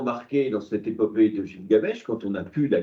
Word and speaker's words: Gilgamesh: qui est l'épopée de Gilgamesh. Alors, on prononce ça aussi Gilgamesh.